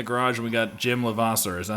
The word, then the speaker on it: Levasseur: We're back in the garage, and we got Jim Levasseur. Is that how you pronounce it? Yes, it is. Yep. Levasseur.